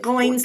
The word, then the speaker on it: Goins: pronounces it Goins like coins, is Okay.